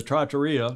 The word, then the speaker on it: trattoria: I know you're all at dinner together at the Trattoria. Did I pronounce that correctly?